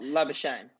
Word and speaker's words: Labuschagne: What pronunciation? Oh, Labuschagne.